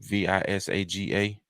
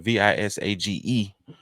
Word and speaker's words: Visage: Visaga. I'm sorry, Visage, who is heading the publicity campaign for the effort, stated, "Visage is a judge on RuPaul's Drag Race All Stars."